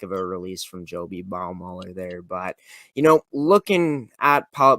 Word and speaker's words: Baumüller: It's Joby Baumüller. Baumüller is how you pronounce it, but Baumüller in that